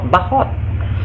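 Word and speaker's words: बहुत: Sangat itu dalam bahasa Indonesia itu guys, tulisannya bahut tapi dibaca bahot. Dibacanya bahot.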